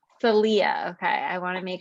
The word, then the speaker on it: Salia: your name right yes so my name is pronounced salia salia okay i want to make sure that i